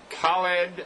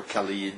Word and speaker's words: Khaled: The K doesn't really, I think, make much of a sound. It's the letter Kha. Dawoud, right? Yes, it's Khaled Dawoud. It's just the letter Kha that does not exist in English, so many times I go for Khalid, Halid, whatever comes.